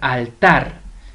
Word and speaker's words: altar: sílaba vamos con altar altar tiene la mayor fuerza de voz en tarna correcto es decir tiene el acento prosódico en la última sílaba vamos a ver ahora